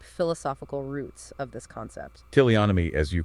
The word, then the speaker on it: teleonomy: No need to apologize for pronunciation. You've got it absolutely right, teleonomy.